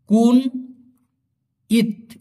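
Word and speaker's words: kunyit: এখানে ভাঙ্গায় দেই আমি কে ইউ এন কুন ওয়াই আই টি উচ্চারণ হবে কুন ইত এই কুনিত মানে হচ্ছে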